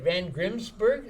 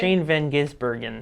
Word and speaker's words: Shane van Gisbergen: And what is it, Van Grimsberg? Is that how you say it? Shane Van Gisbergen Yeah.